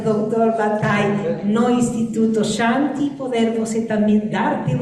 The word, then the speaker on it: Shanti: Shanti, né? Seria a pronúncia correta.